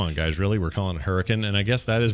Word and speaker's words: Hurricane: Ranch what's his name uh wford brim yes Hurrican is how it's pronounced Hurrican they don't everyone thinks it's Hurricane Utah but it's not it's Hurricane Utah you